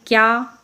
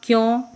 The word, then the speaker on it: क्या: अब इस प्रकार से इनका उदाहरण देखेंगे, जैसे क्या, क्यों। अब इनका जो उच्चारण होगा वो इस तरह से होगा, इसको बोलेंगे कया नहीं बोलेंगे, क्या बोलेंगे, क और य को साथ में ही प्रोनाउंस करेंगे, बोलेंगे।